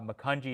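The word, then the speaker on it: Macungie: drop a link in there but it's uh mukunji is spelled m-a-c-u-n-g-i-e wheels of time street rod show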